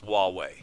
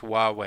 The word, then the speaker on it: Huawei: One clarification, it's Huawei. Huawei, all right. Thank you, Craig. Yeah, it starts with an H, but it's pronounced Huawei.